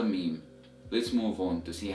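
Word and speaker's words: ميم: alright so the 24th letter of Arabic is renounced as meme meme meme meme so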